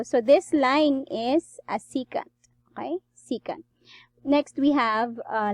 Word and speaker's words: secant: is called a c cut okay it's not second it's c secant you can check your dictionary on that to check on the pronunciation of this word secant so again a